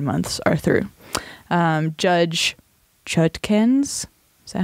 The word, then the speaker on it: Chutkan: Judge Chutkans? Is that how you say it? How do you spell it? It's C-H-U-T-K-A-N.